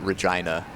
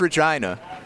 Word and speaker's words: Regina: always thinks I'm bullshitting when I pronounce it Regina they're like it can't be Regina like no it's Regina don't know why have